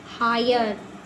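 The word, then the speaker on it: hire: आई को आई हाय एच आई आर ई हायर एल आई N lion are आई ओ T riot ठीक है? ये आई के उच्चारण के नियम थे।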